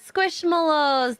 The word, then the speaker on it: Squishmallows: you say it squishmallows squish Mallows Mallows like a marshmallow squishmallow it sounds so